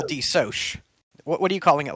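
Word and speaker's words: DeSoc: um is and i it's shortened as d-e-s-o-c uh which looks like d sock to me but i'm going to call d soch what are you calling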